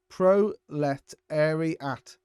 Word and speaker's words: proletariat: He's put a way of pronouncing it. Proletariat. Proletariat. Nice, and that means working